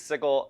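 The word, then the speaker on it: Sigil: does the city exist the city is called sigle uh uh much to the dismay of everyone who pronounces it the other way uh it is sigle uh this is a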